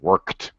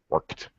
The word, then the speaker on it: worked: pronunciation uh worked worked again with the t sound worked worked okay uh but nothing